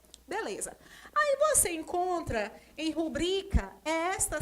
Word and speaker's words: rubrica: A maioria pronuncia rúbrica. Só que a palavra é rubrica.